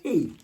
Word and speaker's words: Hu: So you probably say Hugh, but it's actually pronounced he.